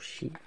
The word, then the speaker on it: sidhe: monde des des chi ça se prononce chi voilà c'est irlandais si je me trompe pas voilà h là aussi